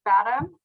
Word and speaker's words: FADM: So I pronounce it Fathom, Okay.